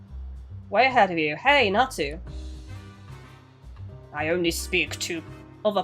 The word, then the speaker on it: Natu: I've been told you pronounce it Natu. Right? I don't know if that's how you pronounce this Pokemon's name, but I've been told it's pronounced Natu.